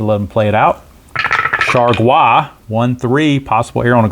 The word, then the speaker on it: Chargois: And yes, that's how the announcers pronounced it, Chargois. So JT Chargois. Sounds like you ought to be having escargot with your Chargois.